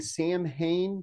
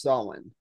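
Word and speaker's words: Samhain: just so everybody knows we're call we're saying Sam Hayne because that's what the ghost Demon's name is in the cartoon that's what everybody says we are aware that it's pronounced soln we are aware of that but we're going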